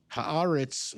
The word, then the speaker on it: Haaretz: Haaretz is, I think, the right pronunciation, and they are Israelis doing Israel's reporting.